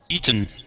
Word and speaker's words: eaten: And then with this word as well, we can swallow our te's uh just like we uh um we did with written.